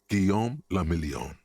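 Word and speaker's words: Guillaume Le Million: meant only one thing guillaume lamillion if it doesn't rhyme you're not pronouncing it right out of the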